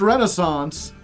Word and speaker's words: Renaissance: It's pronounced Renaissance, but it's got the AI. It's got two S's and a silent C.